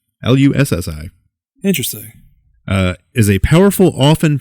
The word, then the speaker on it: Lussi: I keep saying Lucci. Nope. Lussi.